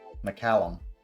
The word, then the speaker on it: McCallum: McCallum. Can we spell it for A Mac or Mick? MC. Mick.